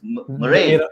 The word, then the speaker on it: Merih: Yeah, actually, his name is not spelled like that, right? It's Merih. H. Oh, okay. There's no A. Yeah, so quite difficult. so Turkish, man. Mariah Carey, bro. Yeah, Mariah so- Carey. It's Murray.